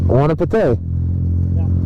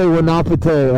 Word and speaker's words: Wanapitei: Wanapitei. Oh, I say Wanapitei. Okay, Wanapitei. So I put the emphasis on the Pitei, yeah.